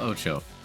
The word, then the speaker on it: OTXO: Welcome to Ocho. Yes, I had to look up the name because of how poorly I pronounced the game in the last video.